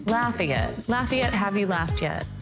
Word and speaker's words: Lafayette: It's Lafayette, like, have you laughed yet? Lafayette.